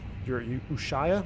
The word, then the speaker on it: Ushuaia: And I'm also picking up your Ushuaia, I believe is how it is it's pronounced.